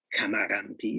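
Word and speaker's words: kamarampi: so i tried their kamaganpi is how they say it in their language and the experience was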